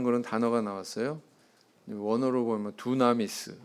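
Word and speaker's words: δύναμις: 이제 권세라 하는 그런 단어가 나왔어요 원어로 보면 두나미스 뭐 이렇게 발음합니다 영어로는 파워 이렇게 번역이 됐습니다 우리 학생들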